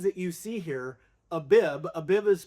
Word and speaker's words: Abib: So the spelling of this word is ABIB. But depending on the jots and the tittles that are used on these words dictates whether it's a V, a B, or how you pronounce the vowel.